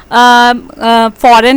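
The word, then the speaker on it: foreign: Word pronounce करते हैं, फॉर example फॉरेन है, फॉरेन में आप देखते हैं जी हमने प्रोनाउंस नहीं किया, या साइन में हमने जी प्रोनाउंस नहीं किया, ऐसा एन ऐसा लगता है बोलने में इसके स्पेलिंग होंगे, लेकिन जो है वो लिखने में हम फॉरेन और साइन में जी लिखते हैं।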